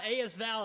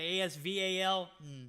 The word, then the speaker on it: AS Val: already back the asl as val is out guys i don't know how you say it the asval no it's as val i haven't used that